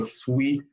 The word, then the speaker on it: suite: pronunciation be careful hotel suite is a fancy room in a hotel it's like the best deal apartment room you can get in a hotel and suite life is sweet in a hotel suite if you would like